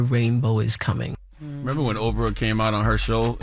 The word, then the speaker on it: Oprah: Remember when Oprah came out on her show and she had lost all that weight and she had it all in a wagon?